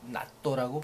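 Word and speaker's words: ナット: 너트에 보면 나사란 뜻도 있으니까 그걸 나또라고 발음합니다.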